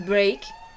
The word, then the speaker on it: break: Também tem a palavra break, né? Esse A, ele tem som de A mesmo, break.